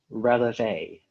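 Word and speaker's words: relevé: Is there any alternate pronunciations? Only releve.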